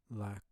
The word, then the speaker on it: lacre: So English lacquer is from the archaic French word Lacre. I don't even know how you would pronounce it in French. I'm not gonna. It's Lacre.